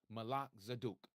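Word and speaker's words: Melchizedek: You may know it as Melzdc. True pronunciation Malak Zaduk.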